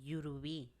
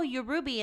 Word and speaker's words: Yurubi: And I'm like, oh, you're Ruby. And they're like, no, I'm not Ruby.